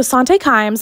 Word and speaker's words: Sante Kimes: of the law merch coming soon okay so sante climbs and i did look up how to say